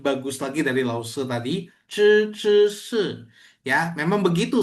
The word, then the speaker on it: 知: Ya, jadi memang harus zhi, zhi, zi, zi, si. Zhi, shi, zhi. Jadi memang harus berbeda.